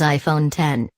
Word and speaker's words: iPhone X: September 23rd Apple says you are supposed to pronounce the iPhone X as iPhone 10 and it's designed to